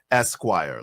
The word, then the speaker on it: S-Quire: Vibe, the pronunciation is Esquire, like the magazine.